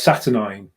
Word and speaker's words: Saturnine: are all chilling out how'd you say it well it's saturnine that's how you say